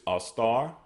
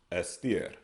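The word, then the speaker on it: אֶסְתֵּר: We have Esther, which is Astar. Okay, Astar. they pronounce as Estir.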